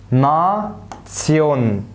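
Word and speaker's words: Nation: طيب رقم 7، الاربع حروف دول هنطقهم تسيون. هنطقهم ايه؟ تسيون، زي كلمه ليكت تسيون، ليكت تسيون، اي ليك تسيون، ليك تسيون، ليك تسيون. نا تسيون، نا تسيون.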